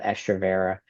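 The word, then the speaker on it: Estrovera: So, like one of my favorite Um, one of my favorite permenopausal/menopausal um, medicines for that is called estroa uh through metagenics and that's like a very common thing.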